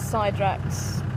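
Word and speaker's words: Psydrax: it's poseidrax p-s-y-d-r-a-x overvata to probably pronounce side racks i actually was going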